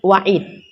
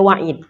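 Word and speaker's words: وعيد: Din atau wadun ada wa'id jangan salah baca nanti yang janji dibacanya wait salah Yan itu janji kalau ancaman waid ya airnya huruf kasroh huruf bawah yang dibaca baris bawah Dah kita rangkum Bila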